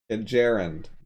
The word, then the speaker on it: gerund: So I kind of just pronounced it like the M1 Garand rifle, I guess.